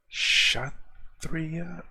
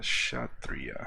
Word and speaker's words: Kshatriya: Kshatriya? Okay. K was silent. I want to hear how you pronounce that. Kshatriya.